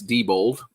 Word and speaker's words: Diebold: So we're being told by Gutbaum it's Diebold, just so we can pronounce it properly. Diebold.